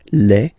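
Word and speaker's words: les: Le and then same rule, you just write li and then you put s at the end but then you don't pronounce it. Le.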